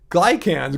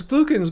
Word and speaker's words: glucans: He couldn't even pronounce beta glycans glucans. Remember that? That his whole video about beta beta glucans. He kept calling them beta glycans beta glu- No, it's glucans, man.